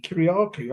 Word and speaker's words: Kyriacou: Kuryaku.